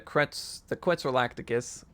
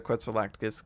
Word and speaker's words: Quetzalcoatlus: I know that's, some people say Quetzalcoatlus, and then there's another way of saying it, but that's just how I've known how to say it. So I'm sorry for the people out there that are going to be like, hey, what's this? No, I just call it a Quetzalcoatlus because that's just how I've pronounced it since day one.